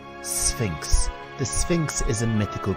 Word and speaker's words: Sphinx: and Monument the Sphinx this word can be tricky to pronounce you have an S sound then an F sound Sphinx the Sphinx is a